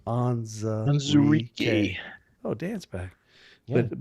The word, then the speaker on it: Onwuzurike: Onwuzurike. Onwuzurike.